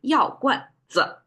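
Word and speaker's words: 药罐子: Now we add a 子 at the end, and we have to say it in the same light tone, which is like non-directional, and we mark it with a circle on the top.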